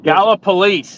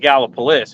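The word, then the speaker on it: Gallipolis: how do you say that to you the gala police is the way they pronounce it there in in their town the people from there we just we call it gallopolis if you're not from there gallopolis hey I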